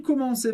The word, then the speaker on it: commencer: De novo, em commencer você percebeu que ER termina em E, e a gente pronuncia simplesmente E no final.